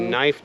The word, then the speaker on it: knife: A knife does start with K. Why? It's a silent letter.